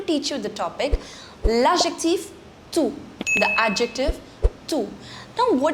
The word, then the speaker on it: tout: The pronunciation of the second and the fourth is same. That's toute and toute.